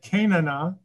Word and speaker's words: Canana: hard to pronounce but i always think of that that old band you might remember the band called shanana so i pronounce it kanana and i was going